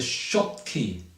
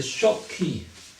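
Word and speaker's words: Schottky: peak has a name it is called the shop key anomaly try to spell that s c h o TT k y the short key the normally that's the peak of um the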